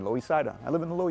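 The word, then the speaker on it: Loisaida: see on avenue c it's nicknamed louis cida that's because that's how the puerto ricans pronounced uh lower east side lois said i live in the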